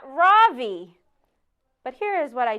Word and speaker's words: Ravi: R-A-V-I. Mrs. Beam has been calling him Ravi, but when he introduced himself earlier, I'm pretty sure he said his name was Ravi, with the accent on the second syllable.